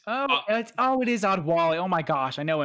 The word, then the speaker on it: Adewale: It's not how you say it, but that's how you spell it. Anyway. I think that's Adwali. It is Adwali.